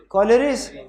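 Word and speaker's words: collieries: कलाइरीज क्या होता है? कॉलरीज के क्या इसको प्रोनाउंस करते हैं? कॉलरीज। कॉलरीज क्या होती है?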